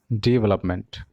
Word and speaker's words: development: The correct form of pronunciation is development.